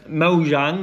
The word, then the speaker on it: Mojang: But that was Mo um Mo Jang or Mo Yang, whichever way you want to pronounce it. I think it's Mojang. I think it is. You pronounce the J.